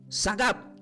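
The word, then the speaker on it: שָׂגַב: Se pronuncia como sagab, que significa puesto en lo alto en lugares seguros fuera del alcance del enemigo.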